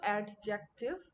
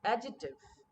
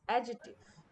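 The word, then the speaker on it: adjective: বাট ইটস নট অ্যাডজেক্টিভ, ইটস অ্যাডজেক্টিভ। এখানে ডি আর সিটা উচ্চারণ হয় না, ইটস অ্যাডজেক্টিভ।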